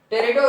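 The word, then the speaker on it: Pteridophyta: ब्रॉडकादमी plant आते हैं टेरेटो यहां पीस साइलेंट होता है पीस साइलेंट होता है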